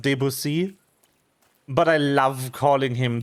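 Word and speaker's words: Debussy: Also, yes, I'm aware that his name is pronounced Debusy, but I love calling him the busy.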